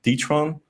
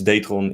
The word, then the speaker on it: Detron: to a Dutch firm called Detron, pronounced in English. I think it's Datron in the Netherlands, or in Dutch, I mean.